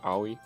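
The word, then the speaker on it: 青い: Do we know the official pronunciation of owi, please? Yeah. I think it's so it's Japanese. It's a Japanese word for blue. Oh, that's what Okay. Yeah. It's owi.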